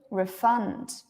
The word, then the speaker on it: refund: to refer fund to refund to refund where is the stress to refund to refund good fund the stress is on fund yeah exactly why because